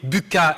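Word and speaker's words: Bucca: de mon univers d'analyse donc je préférerais que vous prononciez buca et je vois que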